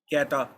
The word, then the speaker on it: catarrh: और इसका तलफ़ुज़ है कैटा। नज़ले को कहते हैं, यानी CATA, और आखिर में है RRH, और RRH ये सारे का सारा खामोश है, साइलेंट है।